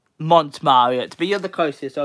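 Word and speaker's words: Montmartre: Mint Marriott. Yes, I think that's how you pronounce it. And Fabled United got it. It's not Mint. Mont Marriott.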